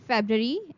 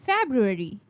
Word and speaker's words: February: So you are going to pronounce it as vegetable. Vegetable. The next word is February. It's not called February. It's called February.